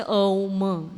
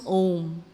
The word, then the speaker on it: Om: And usually, just like we have this very powerful syllable, Om, and we write A, U, and M, or you can say Om, like that it goes. And when they blend together, it forms Om.